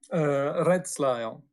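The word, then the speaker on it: rädsla: Redsla, yes. The Redsla. R is wrong, kind of. So Redsla. Or, And the A with 2 dots is a A.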